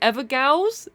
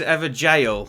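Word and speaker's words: Evergaol: say it wrong the ever gals is that how you say it I think it's is ever jail I think it's pronounce jail it's like an old school way of spelling jail but you've got those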